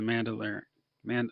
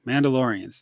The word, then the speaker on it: Mandalorians: they've announced is the Star Wars show the mandolin man how do you say those guys laureates thank you Mandalorians um that's all they've got so you know